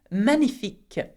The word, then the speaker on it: magnifique: It is magnifique. Magnifique. In English, you say magnificent, but in French, we hardly pronounce the G, so we say magnifique, okay?